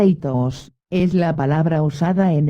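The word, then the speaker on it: ἰχθύς: La palabra griega itus, iota quiteta ipsilon sigma, pronunciada itos, es la palabra usada en el Nuevo Testamento para la palabra pez.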